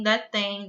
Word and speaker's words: detém: Gente, quando a gente pronuncia a palavra detém, é como se esse M fosse um I.